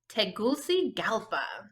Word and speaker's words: Tegucigalpa: Do you remember how to pronounce the capital city of Honduras? Tegucigalpa.